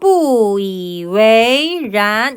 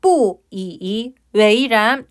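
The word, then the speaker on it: 不以为然: 한번더요 충 그다음 표현 역시나 발음을 잘 연결해 주셔야 돼요 뿌이 웨이란 이렇게 발음이 되는 거예요 뿌이 웨이란 뿌이 웨이란 보통이 이에서 발음이 끊겨서 뿌이이 웨이란 이렇게 발음이 끊길 수 있는데 그렇게 끊기지 않도록 주의해 주시는 거예요 뿌이라고 발음을 해주시길 바랍니다 여러분들이 웨이를 잘 연결해 주세요 그렇게 여기지 않다 전혀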